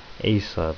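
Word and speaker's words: Esau: the the Jews was ASA it was a twin brother of Jacob now thing is Asa or ASU depending how you pronounce it he was so jealous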